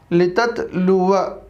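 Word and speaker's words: لِتَتْلُوَا: इसी तरह लितत लुआ, लितत लुआ, वाव के बाद का अलिफ साइलेंट होगा, पढ़ेंगे लितत लुआ, लितत लुआ।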